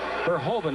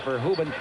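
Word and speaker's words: Verhoeven: Verhovven is the way they're pronouncing it now. We were always told that it was Verhuben, but they wanted Verhovven.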